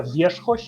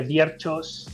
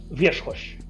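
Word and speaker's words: Wierzchoś: Eh, realmente se pronuncia viersos en polaco. En castellano todo el mundo dice vierchos. Eh, claro, es que hay hay una ch por ahí que puede despistarchot y una r con una Z.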